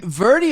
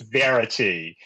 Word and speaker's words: Verity: Verdi is because of my accent. All right, and she for all the listeners out there, her name is Verity, and at one point I think she was like, I think he thinks like.